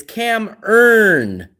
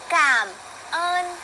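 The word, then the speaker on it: cảm ơn: You guys say, "No, it's cam earn." And they always make a point. Cam earn with a with an R.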